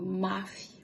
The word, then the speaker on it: mafy: So Mafy would be heard, and you can hear the E at the end, but not so strong. Mafy. We don't say Mafy. The stress is on the syllable, second to last syllable. So it's, since it only has two, it will be on Mafy.